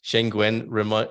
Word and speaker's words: Schengen: I will, All right, let's see what the question was before we go to Schengen, rhyming with penguin.